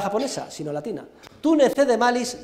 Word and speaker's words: malis: tú, que está cogido de Virgilio, tú, como se escribe en español, ne, ne, cede, cede, tú ne cede malis, M-A-L-I-S, tú ne cede malis, sed, S-E-D, contra, como